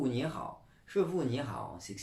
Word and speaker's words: Shifu: Mais bon, bien sûr, on n'est pas censé savoir que Shifu et non Shifu, la vraie prononciation c'est Shifu, veut dire maître.